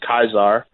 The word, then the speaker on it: Caesar: name in class was a Caesar but it's pronounced ties are okay yeah that's about